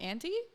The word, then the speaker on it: ANTI: Auntie? Is that how you say it? Yeah, that's Auntie.